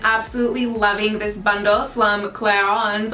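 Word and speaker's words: Clarins: loving this bundle from clairons i don't even know how to pronounce this but it's clarence okay in english um and i have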